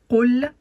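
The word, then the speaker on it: قُلْ: Qul est positionné sur le qaf une damma. La petite boucle que vous voyez là, c'est une damma et elle donne le son ou.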